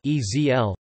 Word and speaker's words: Esel: If a sonorant follows in the syllable coda, the schwa often disappears so that the sonorant becomes syllabic, for instance kissen, kizhen, pillow, esel, ezl, donkey.